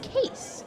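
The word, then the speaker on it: Kees: It's ke e s, but it's pronounced case. Case. Case methar.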